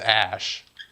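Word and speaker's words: Æ: Well, yeah, that AE thing is pronounced ash. That like a and e that's combined or whatever. It's pronounced a. That's why he's ex Ash 12 or whatever because the AE thing is just Ash.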